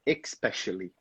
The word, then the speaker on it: especially: But back there, you said especially. So we don't have that X sound here, simply especially.